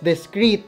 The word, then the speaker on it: DIZKRĒT: Discreet, pronounced as Discreet, is a Philippine-based streetwear brand founded in 2017.